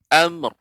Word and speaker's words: أمر: Amr, tidak amr. Nah, karena mim juga bukan huruf qalqalah, sehingga pengucapannya amr.